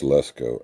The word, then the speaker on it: Lesco: No, it's Lesco.